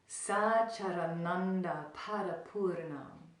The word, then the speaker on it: Sacchārānanda parapūrnam: So I'll teach you a little bit of the pronunciation and the meaning behind the pronunciation, and then we'll chant it together. So it goes like this: Sacchārānanda parapūrnam.